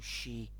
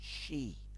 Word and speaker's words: Sidhe: relationship with the psy or she as it said in the front of the book you have to pronounce it as she or inspire you to